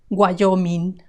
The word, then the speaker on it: Wyoming: Wyoming, Wyoming. The WYO is guayo, guayo.